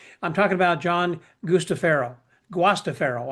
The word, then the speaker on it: Guastaferro: Guastaferro, I guess, actually is the way you pronounce it in the Italian way from what he tells me.